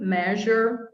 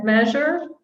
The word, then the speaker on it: measure: the same one oops measure massage measure massage but again you're using lots of french words measure i like this one measure yeah yeah measure um yeah that's the s h plus z together the foot massage from